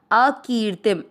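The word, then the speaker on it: अकीर्तिम्: पहला चरण अ की मात्रा बड़ी लंबा खींचना है। अ की ती के ऊपर आधा र जो है उसको की के साथ करेंगे। अकीर्ति शब्द पुराने के बाद अनुस्वार आधा म। अकीर्तिम अनुस्वार को छोड़ना नहीं है।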